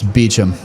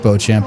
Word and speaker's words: Beauchamp: hit and correct myself that's beachum not Beauchamp I was going off straight pronunciation so sorry about that